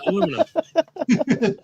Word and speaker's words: aluminum: Aluminium just yeah aluminum. Yeah, exactly. That's what I said. Aluminum. Alum m i nu m. There is no ium in there.